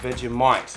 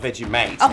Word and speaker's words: Vegemite: veggie vegemite vegemite vegemite vegemite not veggie mate mate is a friend okay yeah like you're